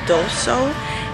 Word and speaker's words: Daiso: And I finally made it to, I believe it's pronounced Doso. It's a Japanese dollar store here in Plano, Texas, I believe I'm at.